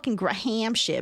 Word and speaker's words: Graham: Oh, it's like the Graham bro. Who H is silent I want to say Graham crackers, not Graham crackers.